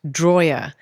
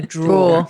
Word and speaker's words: drawer: It's not droer. You put your knives and forks in a drawer.